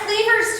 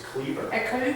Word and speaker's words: Kliewer: It's Kliewer's turn. What's your last name? It's Kliewer. Kliewer. So I know it's spelled goofy, but all you have to do is remember Leave It to Beaver, and that's me.